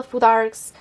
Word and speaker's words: futhark: the ancient Norse people named it futhark with a th in the middle and I don't know how they pronounced it and so that's how I pronounce it uh yet about